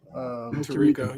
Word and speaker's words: Tirico: Tirico, yeah.